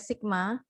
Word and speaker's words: sigma: di populasi itu pakai sigma ini bacanya Sigma ya Sigma kuadrat sedangkan kalau variasi